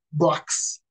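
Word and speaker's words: Boakes: conductismo y el autor se apellida Box porque es francés se escribe boakis de Darwin a la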